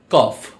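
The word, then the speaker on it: cough: সম্পর্কে আজকে আমরা জানবো যেমন জিএস জাতীয় কিছু শব্দ আছে যেগুলোর উচ্চারণ ফ এর মতো হয় আবার জিএস দ্বারা এরকম কিছু শব্দ আছে যে শব্দের উচ্চারণে জেচ উচ্চারিত হয় না সুতরাং এখন আমরা ফ এর মত কিছু জিএস সম্পর্কে জানবো এক্সাম্পল কফ কফ অর্থ কি কাশি লাভ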